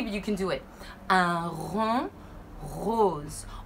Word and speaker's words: un rond rose: Un rond rose. All you have to do is take a deep breath and then push the air out. Keep your tongue down.